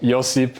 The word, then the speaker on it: Josip: Real name is, well, Josip is my actual name in Croatian, but people just call me cuz it's easier. Yeah. Uh, I didn't say your name wrong this whole time. I thought it was j o e. Nah. That's that's the that's the whitewashed Canadian that's the Canadian version.